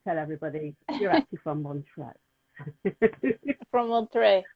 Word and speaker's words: Montreux: Am I pronouncing that right? Is it Montreux? Montreux.